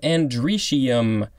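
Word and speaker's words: androecium: Next we have andricium. Of course, I had to look at the pronunciation to figure out how it was pronounced.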